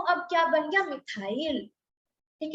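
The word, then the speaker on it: methyl: लेकिन वो उसको हम प्रोनाउंस कैसे करेंगे, मिथाइल।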